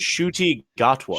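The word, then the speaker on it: Ncuti Gatwa: It's pronounced Shuti Gatwa.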